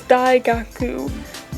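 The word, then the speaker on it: 大学: Past me, the actual word for college and university is Daigaku. It's spelled like this, Daigaku.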